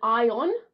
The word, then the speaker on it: ion: now my Australian accent there's two different words here ion like iron like the metal and then ion like Electro electricity okay so we got iron if I was American I'd say it like that and ion iron and